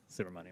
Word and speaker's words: Subramanyam: I will hopefully be able to correctly pronounce this by the end of the 119th Congress. But Mr. Subramanyam. Yeah, Subramanyam.